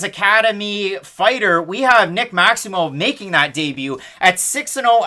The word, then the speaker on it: Maximov: Karl Roberson, Nick Maximov. Almost like mauve, like the color. That's how he pronounced it on Contender Series. That's how the commentators say it. I watched a lot of it. Roberson, Maximov.